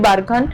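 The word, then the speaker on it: barchan: बोलते हैं हिंदी में ये लोग इसको बरखान बोलते हैं तो आप भी बरखान प्रोनाउंस कर सकते हैं बरखा सेंड ड्यून्स की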